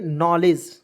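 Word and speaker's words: knowledge: तो इसे पढ़ेंगे दोस्तों डी को इसमें साइलेंट कर दीजिएगा इसे पढ़ेंगे नॉलेज ठीक है के एन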